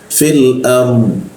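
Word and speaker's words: في الأرض: Ar ra mati bertemu d mati. Jadi dibacanya ard dari sini langsung ke sini ya. Ya. Fil ard.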